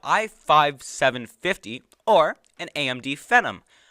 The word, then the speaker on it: Phenom: 750 or an AMD Phenom I thought Phantom was a typo it's not it's how you say it it's pH e NL mmm it sounds like a venom Tom Hardy uh hum